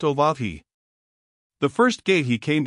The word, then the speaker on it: Oahu: named him after the silent Oahu pronounced oahi the first gate he